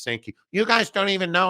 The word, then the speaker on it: Sankey: Very interesting timing that Greg Sankey, the commissioner of the SEC, and it's actually pronounced Sankey.